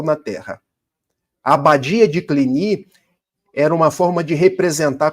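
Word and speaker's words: Cluny: fundam a abadia de, em português se escreve cluni, mas em francês clini, porque é uma palavra francesa.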